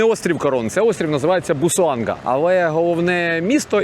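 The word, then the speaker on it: Busuanga: Це острів називається Бусоанга.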